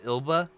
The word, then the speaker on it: Elba: zelba has a cold is he it's just elba i need the internet needs to know i